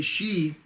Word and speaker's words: Xi: So if you say Xi is coming, that can be confusing. Of course, it's spelled with an XI.